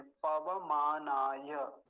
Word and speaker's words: पवमानाय: तो वकार भी पूरा और नकार भी पूरा। वैसा ही यहाँ देखेंगे, पवमानाय, ऐसा इसका उच्चारण होगा।